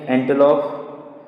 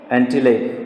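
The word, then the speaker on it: antelope: बाद में spotted deer जिसके शरीर पर स्पॉट होंगे, wild sheep, Jack rabbit, Tibetan एंटेलोप, एंटीलेप. The pronunciation is एंटीलेप.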